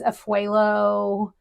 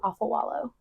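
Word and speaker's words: Afualo: knew how to say it because everybody says afuelo and all these other different things and I've heard her say that her name is Drew Alpha wallow because she's Samoan okay so it doesn't care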